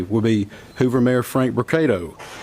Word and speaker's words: Brocato: the podium today will be Hoover mayor Frank brocato spelled b-r-o-c-a-t-o and Hoover Police Chief Nick durz is spelled d-e-r-z-i-s you may also hear from Lieutenant